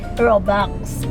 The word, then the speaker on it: Robux: yung Oo nga yung yung spelling niya daw is r o u x robux pero yung pronunciation daw ay robox totoo ba yon So